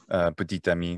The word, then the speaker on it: petit ami: Like petit ami. Petit ami, which would be boyfriend. It could also be girlfriend. But yeah, petit, which is small, and then it's followed by ami, so petit ami. Oh, so there's a T, which wouldn't normally be pronounced.